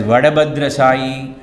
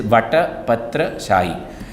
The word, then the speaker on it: Vatapatra Shahi: Tamil being a language with limited alphabets, you will find this word is interpreted as Vadabhadra Shahi, Vatabhadra Shahi, and so on and so forth. The correct pronunciation is Vatapatra Shahi, the Vishnu who reclines on a banyan leaf.